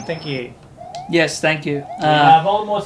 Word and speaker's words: Voldemort: I've been saying Voldemort's name wrong. Who? The T is supposed to be silent according to her. Voldemort. Yeah. So, even in the films it was incorrect.